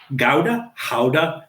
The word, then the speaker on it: Gouda: So again, this is bacon gouda, howda. There's all kinds of different pronunciations. I think gouda is the correct pronunciation.